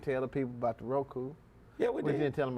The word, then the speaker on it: Roku: fun of me because I said ruko you messed it up instead of Roku say it one more time ruko Roku we on Roku however you pronounce it if you type in wwec TV 24.